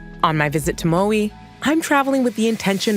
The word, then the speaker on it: Maui: This week, we are coming to you from the beautiful island of Maui, which is actually pronounced Maui in Hawaiian.